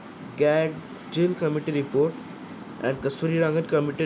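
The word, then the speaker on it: Gadgil: तो ये मैं आपको बता दूं कि गैडजिल जो है इसका प्रोनाउंसिएशन थोड़ा सा ट्रिकी है। अगर आप में जब भी प्रोनाउंस करें आप उसको ध्यान से देख रहे होंगे तो आपको पता चलेगा कि यहाँ पे डी थोड़ा सा साइलेंट है। ये गैडजिल नहीं होगा, ये गैडजिल होगा।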